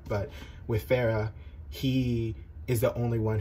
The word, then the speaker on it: Farah: of like right-hand man named farah who i'm not sure if i'm pronouncing that right but f-a-r-a-h and he's somalian so the somali pronunciation of that but with pharah he is the only